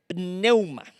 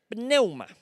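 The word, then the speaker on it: πνεῦμα: espíritu proviene del griego neuman neuman con acento en la pn significa corriente de aire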